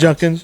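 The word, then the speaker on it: Judkins: Number four on the consensus board is the other Ohio State running back, uh Quinshon Junkins. How's it pronounced? Junkins, yeah.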